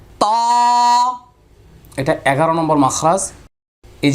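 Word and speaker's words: ت: এখন বলবেন উস্তাদ যে আপনি তো এখন যেভাবে আওয়াজ করতেছেন তিলাওয়াতে তো এইভাবে পড়বো না।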